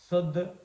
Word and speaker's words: शादी: अगर हम शादी को सादी कहते हैं तो अर्थ का अनर्थ हो जाता है। शादी तालव्य श है, लेकिन हम पढ़ रहे